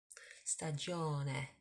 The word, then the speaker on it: Stagione: Stagione. So the E, la lettera E in italiano si pronuncia E. A bit like the E in the word egg in English.